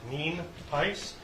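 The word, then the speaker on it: Nienhuis: al nice um it's spelled n-i-e-n-h-u-i-s and it's pronounced mean piss we also have a couple individuals here that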